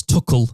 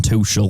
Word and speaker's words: Tuchel: What did you think to Thomas Tuchel that they've decided to start saying rather than Tuchel? Because I think that's how the Germanic pronunciation of it would be.